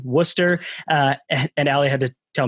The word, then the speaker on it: Worcester: in but ali spent 15 years at the worcester i looked at the pronunciation worcester and allie had to tell me correctly worcester animal rescue league or also known as w-a-r-l